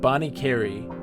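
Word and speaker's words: Bonnet Carré: And Bonnie Carey is how the spelling name is. Bonnie Carey? Okay. My Bonnie Carey.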